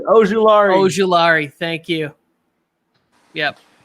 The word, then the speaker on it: Ojulari: Okay, and the Chargers select edge rusher from Georgia, Azeez Ojulari. I needed the pronunciation. Ojulari.